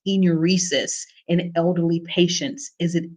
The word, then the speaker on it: enuresis: most common cause of involuntary urination is is pronounced enuresis in elderly patients is it a neurological conditions